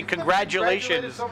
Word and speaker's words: congratulations: or a d congratulations it sounds like congratulations people say contract but you say congratulations like a d it doesn't always sound like a d congratulations this is g even how do you say it say it congratulations you see it's a g congratulations it's a g it's not a t or a d it's a g c